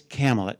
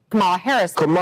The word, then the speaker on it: Kamala: least you've corrected it now we know it's camel it you you've heard it that's it it's camela so now we've got here's